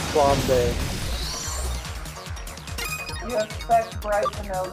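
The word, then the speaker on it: flambé: It's pronounced flambe.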